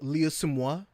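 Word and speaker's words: Liu: all that stuff so it is it is leo you know is really how you pronounce it i don't have a you know a good chinese accent but yeah that's that's really how it's supposed to be pronounced but you know and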